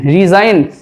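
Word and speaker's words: resign: দেখো জি যদি আমি বাদ দিয়েও বলি রিজাইন তাহলে SIN রিজাইন জি উচ্চারিত হচ্ছে না।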